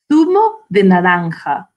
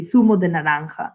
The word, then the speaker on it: zumo de naranja: Zumo de naranja. So if you're saying it in Spanish, it'll be zumo de naranja, which is what I was saying about the J, zumo de naranja.